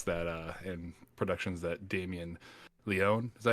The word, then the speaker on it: Leone: and productions that Damien Leone, is that how you pronounce his last name? I'm Leone? pretty sure it's pronounced Leon.